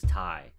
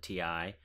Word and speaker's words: Ti: talking to somebody at Nvidia about how it's pronounced TI versus ty because it's titanium it's easy to understand maybe